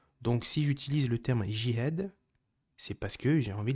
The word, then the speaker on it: jihad: Mais en toute vérité effectivement la prononciation exacte c'est diad parce que c'est un jim, c'est pas J. D'accord ? Donc on dit dihad.